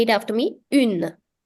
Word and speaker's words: un: Now, make sure you pay attention to this because it's very common for people to mistake the pronunciation between these two. People have a tendency of saying une with this, but no, this is un, and the feminine version of the article is pronounced as une.